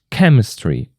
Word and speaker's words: chemistry: Chemistry, also the first syllable.